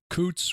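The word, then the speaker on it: Coutts: caused him to be debanked Coots which is spelled Co TTS which is a it's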